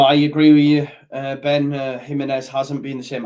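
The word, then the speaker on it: Jiménez: Jimenez hasn't been the same. I like how you spell it with a H as well, because that's how it's said. I like that, bro. Jimenez.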